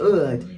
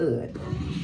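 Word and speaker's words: oud: actually like how you say say wood it's Ood that's the how you pronounce that Ood but this smells so so good and he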